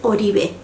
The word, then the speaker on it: Oribe: and don't correct me the name is odibe it's in spanish and that's the way to pronounce it i know i know